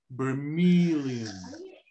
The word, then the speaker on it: vermilion: help you a lot stressing on the meal except the stress is in meal so that's the the the syllable you have to stretch more to sound more american vermilion okay and you can